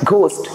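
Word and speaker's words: ghost: इसमें आप देख रहे होंगे the word H इज the silent. आपको इसको इंग्लिश में बोलना है घोस्ट.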